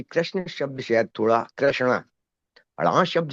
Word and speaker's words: कृष्ण: हमसे हो रहा है कृष्ण हो रहा है। कई लोग कृष्णा बोलते हैं।